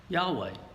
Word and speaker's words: Yahweh: asked him to do and it focuses on Yahweh that word doesn't appear in this reading but the original Hebrew Old Testament gave the name why H WH in all capitals for God roughly it's pronounced Yahweh that's the person to whom the Hebrew people